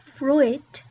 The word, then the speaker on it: fruit: It's not fruit. Not fruit. There are not two syllables there.